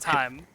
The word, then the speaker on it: thyme: olive oil brown sugar thyme oregano fresh ground black pepper and kosher salt I wasn't timing you out it's just pronounced time yeah I know I